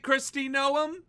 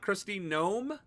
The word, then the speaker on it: Kristi Noem: According to this reporting, is it Christy Noom and not Christine Gnome? Wait a second. Did I inadvertently pronounce it correctly a while ago?